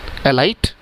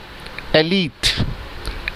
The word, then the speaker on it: elite: कैसे प्रोनाउंशिएट करते हैं इसे? एलाइट? नो, the correct pronunciation is एलीट.